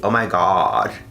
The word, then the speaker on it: OMIGAUD: It's spelled O-M-I-G-A-U-D. Oh my god.